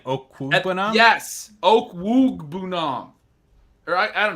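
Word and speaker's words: Okwuegbunam: Albert Okuibunam. That's not what they say. They say Okwugbanam on the shows. They apologize for saying it wrong during the game.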